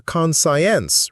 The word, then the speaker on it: conscience: I remember a student who, when asked about their conscience, replied, "My science project is due tomorrow, professor." Clearly, their conscience wasn't reminding them about the pronunciation lesson. Conscience, like con and shuns.